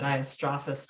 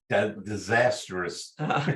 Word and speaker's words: Diastrophus: How do you pronounce that one? Diastrophus. I was reading disastrous.